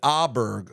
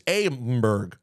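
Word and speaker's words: Åberg: was a guy named auberg who above the a had a little mini Circle and I literally did not know how to pronounce his name I thought it was Amberg I am so proud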